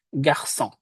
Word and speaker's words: garçon: Kalau tanpa sedi, maka dia dibacanya menjadi onke dan garçon. Malah. Karena ada ekornya, maka kita baca menjadi français garçon.